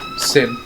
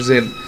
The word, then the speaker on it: Zin: those of you besides sin of course or Zin sorry um leave it to the elf to mispronounce the dck elf's name the mayor can be